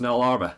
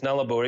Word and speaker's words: Nullarbor: like that for starters I thought it was no larva okay Nana is nalabor it comes from Latin nalasaba no trees no there aren't any